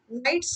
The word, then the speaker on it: knights: से ज्यादा साहसी योद्धा, नाइट्स का मतलब होता है यहाँ बच्चों के का उच्चारण नहीं होता है इस शब्द में, यहाँ के साइलेंट है जिसलिए हम लोग कह सकते हैं नाइट्स, और 50 साहसी योद्धा